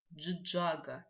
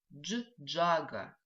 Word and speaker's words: джиджага: Слово стиральная машина джиджага. Видите, какое удачное слово. Мы в этом слове дважды используем звук дж. Джиджага.